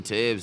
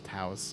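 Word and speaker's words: Toews: Jonathan Taves is gonna hit his 1,000th game somewhat soon, I think. I never knew how you pronounce his name. Taves. Taves. Yeah. I always thought it was Taos. Taves.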